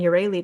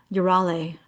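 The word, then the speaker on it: Euryale: another book about Medusa, and then they're pronouncing Urali different. Urale. I'm like, I thought it was Urali, now it's Urale.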